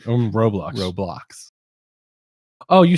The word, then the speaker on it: Roblox: o l o x there's no second middle o i said r o b l o x you said r-o-b-o-l-o-x that's